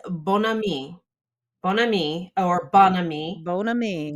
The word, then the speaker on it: bon ami: Bon ami or bon ami. Bon ami. Bon ami, actually, I think is how we pronounce it in American slang, or not slang, but American.